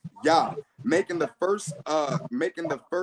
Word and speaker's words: Yah: The consonant H is closing the first syllable and is not the first sound of a new syllable. That's what I was saying about the Yah, and then it stops. There's no Yah, or it doesn't prolong on.